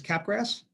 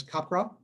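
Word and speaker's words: Capgras: So number one is caprass otherwise known as copra if you're going to pronounce it right.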